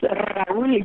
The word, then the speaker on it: Raúl: Okay, the name is Raúl Grijalva. Rahula. See, I don't know my Spanish, so thank you for... I know, it's a tough one, Raúl, because you have to roll your R's, and then Grijalva.